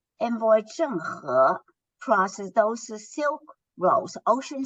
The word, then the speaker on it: Zheng He: And a lot of people pronounce his name Cheng Ho or Cheng He. It is because we're dealing with the transliteration of the Chinese pronunciation.